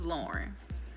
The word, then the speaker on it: Lauren: who I am but my name is Lauren like Lauren Hill it's spelt like Lauren